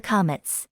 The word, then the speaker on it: קָמַץ: an exception for the Comets in fact in some rare cases it is pronounced o in this case we